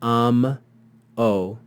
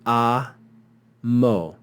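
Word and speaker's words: amo: the second syllable so ammo would not be am o because the consonant will go with the second syllable it will be ah MO MO here we have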